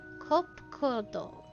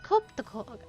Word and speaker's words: Kopkodog: As for nomenclature to address my individual person, I believe it would be pronounced Kopkodog. Yes, Kopkodog of the Ia.